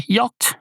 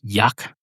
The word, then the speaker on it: yacht: Surely I should know how to say it, but no, I don't. I have no idea. It's a yucked. Yuck. Yuck. It's not yak.